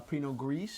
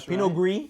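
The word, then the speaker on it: Pinot Gris: an American wine a Pino grease a Pino GRE pen gree from Oregon how tasteless of me to pronounce the S I'm going to get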